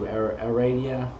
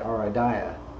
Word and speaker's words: Aradia: the um invocation to Aradia you know I some I somehow find myself wanting to pronounce that Aria I I think I heard somebody pronounce it that way once Aria but anyway um I